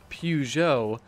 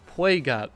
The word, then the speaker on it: Peugeot: what people are telling me is the correct pronunciation of Pujo I said play got before for your summary ID to be honest